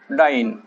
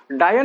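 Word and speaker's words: dyne: यानी पूरा लिखना पड़ता, डायन मत पढ़ना, है ना, डायन अलग होता है ना, लेडी घोस्ट होती है डायन, राइट। तो ये डाइन है, नॉट द डायन, ठीक है, डाइन, डाइन पढ़ेंगे आप, प्रोनाउंसिएशन थोड़ा सही रखिएगा।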